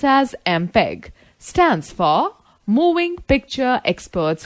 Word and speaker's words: MPEG: Students, note the fact MPEG, pronounced as MPEG, stands for Moving Picture Experts Group.